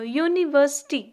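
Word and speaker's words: university: यू क्या है, vowel, लेकिन जब आप इसको प्रोनाउंस करते हो यूनिवर्सिटी, तो इसका जो साउंड है वो कहाँ से स्टार्ट होता है, साउंड हमें वाई से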